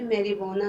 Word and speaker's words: marijuana: मैरीवाना होता है बेटा हशीश या भंग भी इसको कहते हैं, और ये वर्ड जो है मैरीवाना है, जे साइलेंट है इसमें.